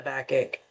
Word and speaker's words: backache: How long have you had a backache? Okay. So, very, very typical for health problems. Teacher, the pronunciation is a backache. Backache. Backache. Eight. Ache. Yeah.